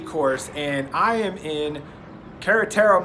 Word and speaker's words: Querétaro: and I am in querétaro Mexico properly pronounced cadet Thoreau and I'm staying at